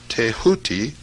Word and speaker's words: Thoth: scribe of the gods Thoth, pronounced Tehuti.